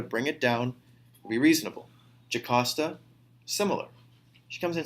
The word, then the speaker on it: Jocasta: So it is pronounced Jocasta.